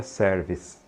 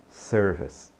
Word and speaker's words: service: Serviço em inglês, não diga service, né? É self-service, por exemplo, restaurante, né? Primeiro que esse ER de sir é serve, né? E esse Ezinho no finalzinho não é pronunciado, então é service, service.